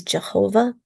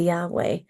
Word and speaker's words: Yahweh: And so that initial translation of the name of God in these texts was seen as Jehovah, but later research caused them to change the pronunciation of that name into Yahweh.